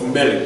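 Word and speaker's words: מלך: Whenever you see the double sigle, the two E's side by side, then it's going to be, then the first syllable gets the emphasis. So it's melech, not melech, but melech.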